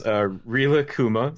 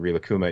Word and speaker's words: Rilakkuma: it literally up in front of me it's Rilakkuma so it's RI la kku ma Rilakkuma okay and car-boot is spelled just like Kairos you're essentially well kuma